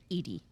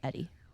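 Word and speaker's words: ED-E: their house or whatever, girls call this robot Eddie. Every boy I have ever seen say the name while they're playing pronounces it Edie. And I'm very curious about that and why that is. But for me, that's what I have observed. So, even though it's obviously Eddie, it's even called Eddie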